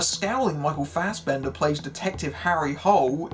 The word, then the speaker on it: Harry Hole: A scowling Michael Fassbender plays Detective Harry Hole. Yes, it really is pronounced that way because they got that wrong too.